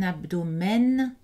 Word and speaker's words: abdomen: Donc, aucun de ces mots n'est prononcé avec une voyelle nasale. Ce sont des voyelles orales. Un album, un abdomen, un tandem, le maximum, le minimum, l'aluminium.